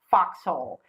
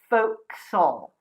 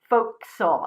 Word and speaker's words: fo'c'sle: foxhole more or less it's not foxhole its folk soul folk soul and notice that if